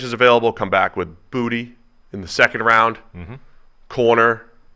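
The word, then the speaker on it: Boutte: LSU first round potential that's really how you pronounce that booty yep looked it up okay what would you go with I would have said boot based off it's booty spelled booty booty okay booty all right someone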